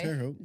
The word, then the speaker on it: Terre Haute: So if I offend somebody, I'm sorry, but it's at Terre Haute or Terre Haute. Yeah, you said that right. Terre Haute.